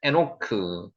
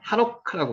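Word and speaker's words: חֲנוֹךְ: 에노크. 원어로는 하노크라고 발음합니다.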